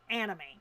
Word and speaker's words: anime: That's how it's pronounced, anime.